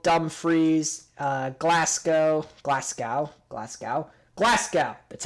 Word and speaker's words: Glasgow: head up carlisle dumfries uh glasgow glasgow glasgow glasgow that's how it's pronounced exit at perth take the slow roads